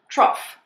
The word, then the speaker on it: trough: The third pronunciation is off, just like the word off, O-F-F. Some examples include cough and trough.